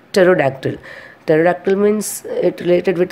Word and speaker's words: pterodactyl: The spelling is Pterodactyl, but we are pronouncing as a pterodactyl.